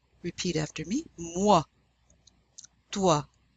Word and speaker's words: moi: The OI is pronounced wa. Repeat after me. Moi.